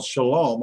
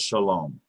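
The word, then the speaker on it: שלום: so that's why we have when we spell Shalom also Shalom has a numerical value that needs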